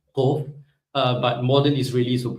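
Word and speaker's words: קוף: So it's again pronounced a little toward the back, Kof. But modern Israelis will pronounce it as Kof, exactly the same as Kaf, right?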